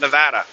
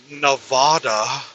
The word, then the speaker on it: Nevada: Nevada, the state of Nevada. The only people I've ever heard refer to it as Nevada are tourists or people who recently moved to Nevada.